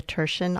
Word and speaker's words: Thurshen: You're listening to Writers' Voices with Monica and Caroline, and our guest today is Julia Thurshen, author of Feed the Resistance, Recipes and Ideas for Getting Involved.